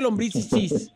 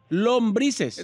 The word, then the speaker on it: lombrices: lumbis lumbis lombri señor no se dice lombis lumbis no lombrices lo gusano es otra